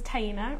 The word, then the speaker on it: Taina: yeah my name is taina rhymes with hyena if that helps you remember it I am on the